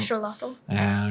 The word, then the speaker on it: axolotl: Do you know we've all been saying axolotl the wrong way? What's the real way? Axolotl.